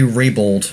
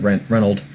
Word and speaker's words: Raybould: regardless that Jane Rennell J Raybould no no I kept on saying Brent Reynold J rape Raybould I played this how you pronounce name it's not gonna doesn't stand